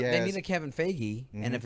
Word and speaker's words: Feige: Like well, he they has, need a Kevin Feige, and if it's Jeff Johns, he's got the chops for it.